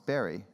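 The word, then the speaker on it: Barre: She is co-founder of the Insight Meditation Society in, I always say it wrong, it's Barry, in Barry, Mass., and the author of 10 books, including Real Love, which I know we have for sale here.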